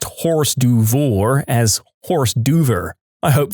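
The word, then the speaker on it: hors d'oeuvre: a neighborhood flyer about a pool party and pronounced odu as horse duva. My friend, who was a know-it-all at 16, laughed in a really exaggerated way and said, "I can't believe you just pronounced horse duvour as horse duver."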